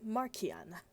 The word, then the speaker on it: Marciana: Italian, it's Marciana.